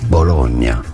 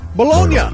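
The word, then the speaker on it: Bologna: So, make sure to stay tuned to the channel in Italian. It is said as Bolognia. Bolognia. It is Bolognia.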